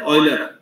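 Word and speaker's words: Euler: इसको पढ़ते समय ऐसे पढ़ेंगे जैसे ऑयल पढ़ते हैं, ऑयलर, ये वाला जो प्रोनाउंसिएशन है ऑयल वाला, ऑयलर, ये फादर ऑफ मॉडर्न मैथमेटिक्स माने जाते हैं।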